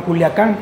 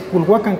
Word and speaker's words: Culhuacán: el Cerro de Culiacán que antes era Culhuacán porque así se llamaba Nada es que los ibéricos no sabían pronunciarlo y lo llamaron Culiacán pero en Sí es culhuacan que es la montaña Sagrada